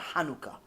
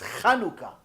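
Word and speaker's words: חנוכה: Like Chanukah. Hanukkah. No, it's not Hanukkah. It's Chanukah.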